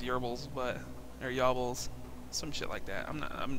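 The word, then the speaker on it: Goebbels: you want to pronounce I believe it's actually pronounced yerbils but they're yobbles some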